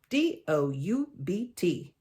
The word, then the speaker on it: doubt: What is a bee doing in there? If no one can hear the bee, why do we still have to see it? I doubt it. Nope, that's not how you say it. I doubt whoever put that there was very smart at all. Big old silent bee.